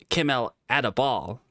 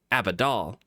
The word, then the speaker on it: Akatosh: It's Kimmel Adabal, not Abidal.